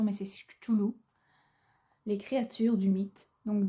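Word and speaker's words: Cthulhu: Et ici, vous avez, désolé pour ma prononciation mais c'est choulou.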